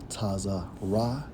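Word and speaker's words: צרה: to the Hebrew which is strongs H 6869 pronounced as tazar ra and according to outline of biblical usage Straits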